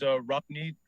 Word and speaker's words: Rabneet: All right, so my name is Rapneet, 6541 Ballymore Lane, Clarksville, Maryland 21029. My name is spelled Rabneet.